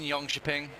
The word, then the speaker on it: Jönköping: Anyway, we're live from the Elmia Arena, from the Expo area in Jönköping.